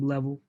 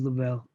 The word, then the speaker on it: Lavelle: I call him Level. His real name is Lavelle because I pronounce him wrong.